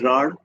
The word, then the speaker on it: Rarh: It is pronounced as Rar, and it is a toponym for an area